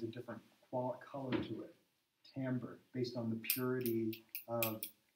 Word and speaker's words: timbre: Timbre is another one we have. That's a French word. It looks like it says timbre, T-I-M-B-R-E, but it's actually pronounced timbre, and in French it means color.